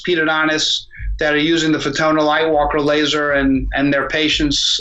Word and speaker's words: Fotona: And how much does this Photona, named after Photona, so it's Photona, is pronounced? Correct. Photona.